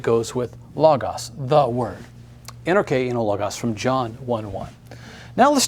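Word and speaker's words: ἐν ἀρχῇ ἦν ὁ λόγος: En arche ein ho logos. Note the accenting. We have an accent here over our K, the K syllable. We have an accent here, the first syllable of logos.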